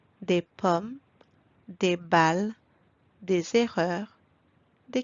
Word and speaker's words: des pommes: Do not pronounce the S at the end, as it remains silent. Des pommes, des balles, des erreurs, des camions.